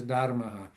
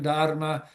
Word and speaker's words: Dharma: I can say Dharma just like everybody else, but the true Sanskrit pronunciation is Dharma. So, at any rate, the meaning of Dharma is the eternal laws of the universe.